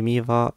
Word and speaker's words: Miva: the first page of Mira Eva I mean sorry why I'm pronouncing it Mira I don't know so here we have the solution y miva business style business size